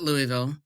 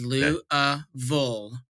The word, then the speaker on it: Louisville: perfect no okay seriously I say it wrong it is not Louisville it is louville Lou Louisville yeah and